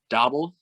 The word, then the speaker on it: Daboll: The big thing, too, is he was with Brian Daboll.